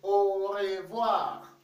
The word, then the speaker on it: au revoir: want to know it the way it is pronounced you will say au revoir okay david i want to remind you that